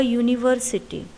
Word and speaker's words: university: Next example, a university. The word begins with the letter U, but when we pronounce the word, it begins with Y sound.